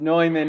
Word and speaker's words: Neumann: I wanted to say Newman, but it's Ines Neumann is here, and Jens Barr.